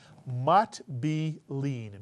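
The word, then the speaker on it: מטבילין: Second syllable is easy. B. And the third syllable is easy. Lean. Mitsuyan. Put the word together. Mat be lean.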